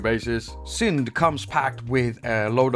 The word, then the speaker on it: Syndt: for their apps and syn is pronounced that way without the T it's a Danish word and without the tea